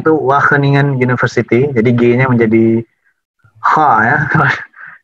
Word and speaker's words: Wageningen: saat ini sedang menempuh pendidikan Master di Wageningen bacanya itu Wageningen University jadi gini menjadi Hai JG Dewa keningan